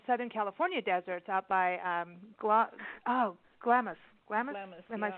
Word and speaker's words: Glamis: And up in Southern California deserts, out by Glamis.